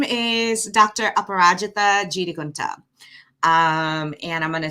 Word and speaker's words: Aparajita: so needed um so my name is dr aparajitha kunta um and i'm gonna say it one more time so you can learn how to pronounce it apparatchita and it is an ancient sanskrit name i